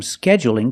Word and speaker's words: scheduling: a dark L but when I say scheduling is it dark or light that's right it's light because the L is between vowels scheduling so you can say